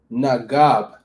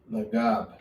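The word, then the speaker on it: נגב: So the word south in Hebrew or Lashawan Qadash is Nagab. Nagab. All right, Nagab spelled like this in the Lashawan Qadash.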